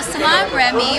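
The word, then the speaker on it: Salaam Remi: So I want to know what was it like working with Nas and Salam Remy. I'm not sure if I'm saying it right. Yeah, you are. No, Salam Remy.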